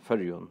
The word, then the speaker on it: Føroyum: Also notice that the dative ending M in Føroyun is pronounced N.